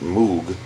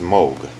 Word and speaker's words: Moog: joints these are these are this is not pronounced moo it's pronounced Moog but um this is the one that is